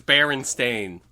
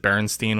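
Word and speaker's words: Berenstain: so stupid i mean it's always barren stain guys yeah well and that's the thing like just because you know maybe a librarian pronounced it berenstein when she was reading it to you as a kid like sure but that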